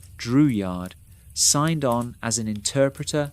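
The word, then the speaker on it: Drouillard: George Dreward, pronounced Dreward, signed on as an interpreter and hunter.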